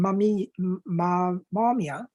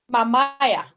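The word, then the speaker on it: Mamaia: In Mamia? No? Mamaya.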